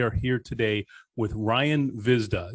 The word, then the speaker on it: Hvizda: here today with ryan vizda yes the h is silent guys so it's ryan visna